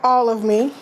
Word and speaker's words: ALLOVEME: with my nonprofit um it's called All of me it's spelled a l l o v e m um in the middle